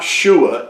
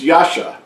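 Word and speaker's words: ישע: 3467 which is Yasha it's not shua it's Yasha and it means salvation or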